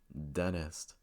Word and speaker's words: dentist: Annie Annie County County so again these are words that have the letter n followed by the letter T and the T goes silent this usually occurs when